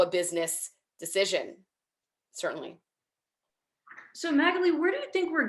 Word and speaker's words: Magalie: know people are listening it's magalie for anyone who is confused um it gets pronounced so many different ways which i'm totally uh i'm fine with but it's magaly is the pronunciation and i wanted to